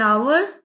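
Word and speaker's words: hour: एन आवर एन एयर air means ये एच यहां पे साइलेंट है।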